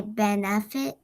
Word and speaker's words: benefit: way yes please okay so i think you have to put a thinking cap on the second e because you kind of like say benefit yes it's unstressed so it doesn't say an e sound that says like an it or a sound benefit yeah and then is